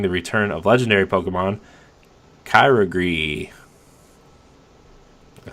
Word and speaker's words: Kyogre: Water Pokemon will appear more frequently in raid battles, including the return of legendary Pokemon Kyogre.